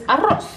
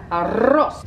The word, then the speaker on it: arroz: Because Spanish people, in Spanish, rice is arroz. And a lot of people have trouble saying that because they don't know how to roll their L's. Arroz.